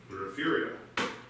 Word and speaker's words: Refugio: And the answer is you had Irish settlers there who spoke Gaelic, and when they tried to pronounce it, they added in an R. So Refugio.